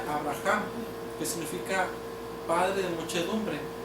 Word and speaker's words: Abraham: vida por lo tanto cuando Abraham se le inserta una una letra Hey en su nombre que en español es una letra h se pronuncia Abraham que significa padre de